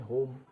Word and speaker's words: home: HOME होम, यहाँ भी क्या है, म बोल रहा है। ई साइलेंट हो रहा है यहाँ पर, ठीक है।